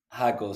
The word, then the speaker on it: Jaco: Jack Jacob jacobo Jacko jako so the drink is uh you have to pronounce oh J like an H basically it's Spanish so uh yeah I